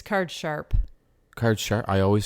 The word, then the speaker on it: card sharp: i always say card shark card shark it's card sharp card shark i always said card shark too